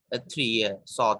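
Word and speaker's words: ص: When look, these 1, 2, 3, Saad, not Sheen. When you pronounce these 3 letters, you join your teeth.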